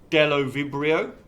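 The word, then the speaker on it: Bdellovibrio: The yellow cell is being attacked here by the little white cells, and the little white cells are called Delovibrio, with the silent B on the front, Delovibrio bacteriovorus.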